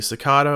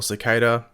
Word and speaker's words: Cicada: Well, as we first reported a few weeks back, that villain will most likely be Cicada or Cicada, however you pronounce it depending on where you live.